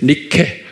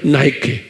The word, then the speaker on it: Nike: 니케. Nike. 그걸 우리 발로 하면 니케예요. 그런데 영어로 발음하면 나이키.